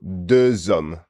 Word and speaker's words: deux hommes: Oui, so that's H muet with the liaison is compulsory. So deux hommes. Yeah. So un homme, l'homme, L apostrophe, l'homme, but deux hommes. So we're hearing that liaison, and as you say, it's compulsory.